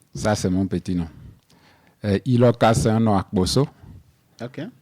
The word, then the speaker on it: Iloka: prononcé. Ça veut dire quoi? Annie Iloka, c'est un nom composé. Mhm. Annie, c'est mon petit nom. Anissé, que j'ai coupé à Annie. Ok, Ça, c'est mon petit nom. Iloka, c'est un nom akboso ok.